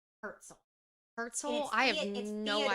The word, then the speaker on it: Herzl: I think it's pronounced Herzl.